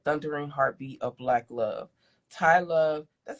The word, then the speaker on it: Tiye Love: Tai Love. That's how you say her name. Ty, right?